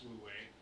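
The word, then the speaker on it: wu wei: play on words way actually stuff WEEI it's pronounced lui means not doing or without effort and the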